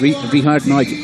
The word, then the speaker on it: Richard Nagy: And Richard Nagy is the right pronunciation of his name.